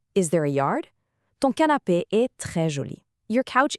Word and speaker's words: canapé: Finally, canapé, meaning couch. It's masculine. And notice that accent on the A makes it an A sound.